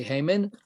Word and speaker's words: Haman: for me to say Haman, or must it be pronounced Haman? I noticed that when we read from this, people are pronouncing it Haman. Right. Haman is Hebrew, Haman is English.